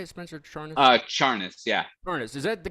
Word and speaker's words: Charnas: Charnas, yeah.